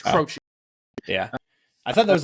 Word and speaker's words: Croce: I had to get pronunciation. It's Croce.